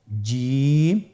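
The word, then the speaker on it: جيم: প্রথম হরফটি হল জিম। পরের হরফটি হা। পরের হরফটি খ। আপনারা আমার সাথে বলুন জিম। হা খ জিম হরফটি বারিক হরফ এটা উচ্চারণ করতে হবে তিন আলিফ টেনে দেখুন আমি কিভাবে উচ্চারণ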